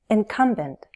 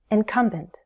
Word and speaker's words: incumbent: Incumbent. Incumbent. Incumbent. Stress is on the second syllable. Incumbent.